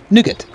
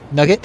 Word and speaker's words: nougat: Nougat. N-O-U-G-E-T. Uh-huh. Or nougat. Nougat. Or nugget. Nugget? I would have said nugget, but I think it's pronounced nougat. Nugget. Nougat. Stop saying nugget.